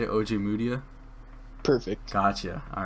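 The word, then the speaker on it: Ojemudia: OJ Mudia?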